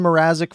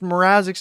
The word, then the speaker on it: Mrazek: The Toronto Maple Leafs trade Peter Mazzara. Oh my goodness, Gary Bettman pronounced Mrazek's name wrong.